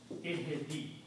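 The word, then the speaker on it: اهدِ: Ihdi. You don't need to write this ya, but these two combined can be written this way. And pronunciation is ihdi.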